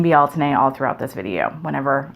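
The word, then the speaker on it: Bealtaine: that word oddly but if you look up the original gaelic pronunciation in google you will hear a guy say it and it's be alton a so as was pointed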